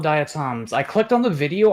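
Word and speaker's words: diatom: It's not pronounced to trauma. It's pronounced datom.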